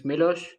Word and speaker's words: Miloš: special guest uh from Serbia his name is milosh nice to meet you everybody yeah that's how we pronounce yeah that's exactly how it's pronounced yeah